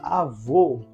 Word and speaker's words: avô: tônica aqui é vó o assento gráfico é o assento agudo que indica que o timbre desse o aqui é aberto porém se eu pronunciar a palavra avô eu vou colocar o acento circunflexo logo eu sei que o timbre da letra O neste exemplo é um timbre fechado o então o acento